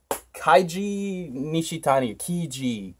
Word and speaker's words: Keiji Nishitani: Keiji Nishitani. That's how you pronounce the man's name.